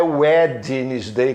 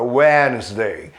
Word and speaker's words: Wednesday: não ser essa palavra quarta-feira em inglês não é wednesday como a gente trouxe de vez em quando a pessoa e esse ideia muda nessa palavra wesley wesley quarta-feira e houston harry styles